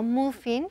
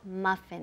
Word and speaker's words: muffin: Now, pronunciation, muffin, no muffin, pero muffin. Esa U se pronuncia como si fuera una A, muffin.